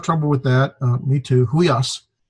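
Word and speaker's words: υἱός: This is a diphthong, the upsilon, iota, and got the rough breathing. So with the rough breathing, it'd be like the H, we. So it's huios.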